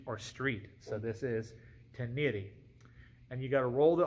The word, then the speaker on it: Ténéré: the sport flanker out rolls this now I've pronounced this incorrectly in the past I've called it ire I've called it taner it's tenan and I've had to look up the phonetic